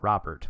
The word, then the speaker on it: Robert: they've got anderson mancotta luis man apparently he pronounces it robert which is surprising to me um colas grandao